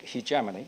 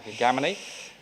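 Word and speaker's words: hegemony: China will not seek hamony will not seek heamy as a British pronounce it American pron heamy and uh well mean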